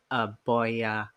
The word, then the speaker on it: Boya: Boya PM500.